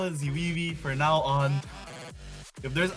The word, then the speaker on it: zweywe: I don't pronounce Zoe's name. It's Zwee. I got a lot of Zimi. Okay, I got a lot of DMs. I got one DM kept correcting me about pronouncing this person's name. Zoe Zimi Zoe.